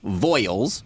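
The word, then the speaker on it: Voyles: So that child's name is Madeline Una Voiles. It's just Voiles.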